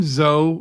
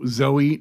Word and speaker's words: Zoe: drives me crazy cuz I can never tell which way they're going to pronounce it for the most part it's always Zoe Zoe is always Zoe see I had a friend whose name was Zoe and she named her name was zo and you very much called her zo so I think Z guys you see more Zoe pronounced Zoe than zo sure you're probably right yeah